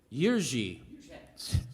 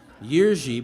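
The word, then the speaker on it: Jiří: george mraz on bass who went by jiri moraz on this record say what yorji you learn something every day so yearji but it's spelled j-i-r-i but he eventually changed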